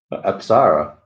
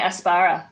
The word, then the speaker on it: Apsara: How you say it? Apsara. Apsara's right. Yeah. Yeah. Yeah. How's Mark say it? Oh, no, you were saying Aspara land.